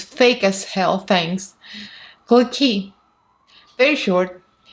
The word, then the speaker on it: клыки: Клыки. Very short. Клыки. Again, this is a sound that doesn't exist in English. It's uy. So it's клыки.